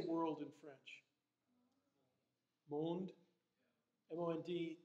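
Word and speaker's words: monde: scat how do you say world in French moaned mo ND e there so that's so we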